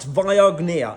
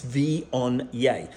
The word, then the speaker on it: Viognier: This is Viognier, not Viognier, it's Viognier. This is the phonetics for pronouncing it.